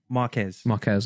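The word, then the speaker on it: Marques: why I Marcus think people- Brown and sorry, what's his?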